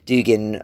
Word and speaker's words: Dugin: The first being that I think it gives Alexander Dugin, or Dugin as he's sometimes pronounced, too much credit into his significance, as I talked about in the podcast before.